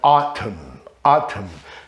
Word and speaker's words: autumn: E a letra N, que vem depois de M, também não se pronuncia. Column, autumn, coluna, outono, né? Column, autumn, tam, a. Apesar de ser um AU, a pronúncia é autumn.